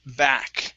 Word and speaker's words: back: Okay, let's go to the word back. Make sure to pronounce that K.